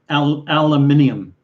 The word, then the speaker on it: aluminium: yes the british john the british do pronounce it aluminium they do there's some other words that they pronounce like that where they stretch it out longer than we do it's not incorrect it's